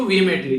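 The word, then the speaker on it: vehemently: इसी के साथ में यहाँ पर वेमनली बेसिकली बोला है जोरदार, ठीक है, तो यानी कि एक तरीके से फोर्सफुली आप लोग बोल सकते हैं। प्रोनाउंस करेंगे इसको वेहेमेंटली, ठीक है, तो यहाँ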